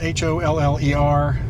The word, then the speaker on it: holler: same thing it's just our pronunciation is different as a holler and we spell it the way we hear it yes and it's basically